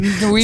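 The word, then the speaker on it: Nwigwe: Toby Nuigi. Nuigi, that's how you pronounce it.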